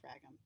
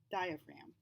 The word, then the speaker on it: diaphragm: that was the diaphragm now watch how funny that word is spelled i frag them because it's a silent G we don't say frag them diaphragm okay that's what was